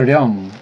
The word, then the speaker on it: 령: 영이 아니죠. 령이에요. 령. 원래 우리 훈민정음, 동국정음식 발음은 령이에요. 령.